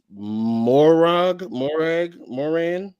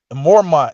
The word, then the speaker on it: Mormont: How you say his name? Or Jorah. Where am I getting the M from? Mormont is his last name. Mormont. There it is.